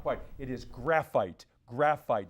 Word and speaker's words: graphite: Graphite. You were saying granite. I think you were trying to say granite maybe, but graphite was the correct pronunciation of that.